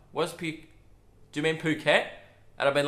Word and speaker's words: Phuket: I've been calling Phuket, Phuket. Why? Because Phugot. Because I can't help myself. My brain sees a word starting with P and goes, mispronounce it.